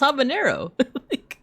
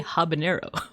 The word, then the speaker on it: habanero: But it's like there there's no ena in there. It's just habanero. I think it's because they probably confuse it with like jalapeno.